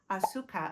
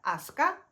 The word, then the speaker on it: Asuka: In Hakuba, we went to a restaurant, Isakaya restaurant called Auka. And I think you actually pronounce that Asuka in Japanese.